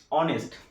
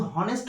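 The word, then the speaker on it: honest: সেহেতু এখানে অনেস্ট বা আওয়ারের ক্ষেত্রে এইচ এর উচ্চারণটা কিন্তু আসছে না, আমরা কিন্তু হনেস্ট বলছি না, এইচ এর উচ্চারণটা করছি না, এইচ এর উচ্চারণ বাদ দিয়ে ওয়ের উচ্চারণ আসছে, যেমন অনেস্ট বা আওয়ার ওয়ের উচ্চারণটা আসছে।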